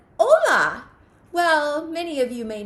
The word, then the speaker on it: hola: English language says right so you might think that this would be Pola but it's not and how we know that is because we look at the pronunciation right next to it where it says oh la and so we know that we are gonna pronounce this word hola okay friends well I